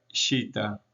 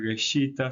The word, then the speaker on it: shita: Por ejemplo, acá tenemos masa, que el determinativo es gesh, madera, pero se pronuncia shita. No vamos a pronunciar geshita, sino que solamente shita.